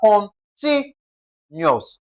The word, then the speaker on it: continuous: We're going to stress the syllable before the last. So, we have con ti nuous. Con ti nuous, ti is stressed.